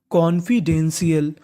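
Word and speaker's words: confidential: Dane T आई एल शियल तो पूरी meaning कॉन्फिडेंशियल कॉन्फिडेंशियल कॉन्फिडेंशियल का मतलब क्या होता है गुप्त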